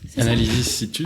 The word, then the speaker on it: Analysis Situs: Analysis Situs. Analysis Situs. Du latin. Il faut le prononcer à la latine.